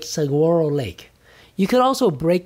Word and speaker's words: Saguaro: Lake right Saguaro Saguaro it's not a g it's like pronounced it's like guacamole no guacamole well there